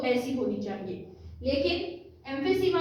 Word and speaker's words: emphysema: अगली डिजीज का नाम है एम्फीसीमा। एम, ये ई साइलेंट है, एम फी सीमा, पी और एच की आवाज फ की आवाज आएगी, फ, एम फी सीमा, एम्फीसीमा, एम फी सीमा, एम फी सीमा।